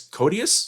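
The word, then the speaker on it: Koteas: barron starring judith hogue elias codius is how you say his name i like to tell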